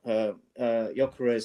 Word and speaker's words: Gyökeres: it a bit surprising that he left out Gyökeres.